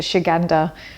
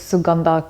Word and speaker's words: Suganda: I love as well this is suanda finally I say it right my mom watched one of my videos last time I called it Shanda and my mom said no it's suganda get it right so